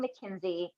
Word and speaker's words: McKinzie: jamie carroll today we have the amazing mckenzie am i pronouncing your last name right yup that's perfect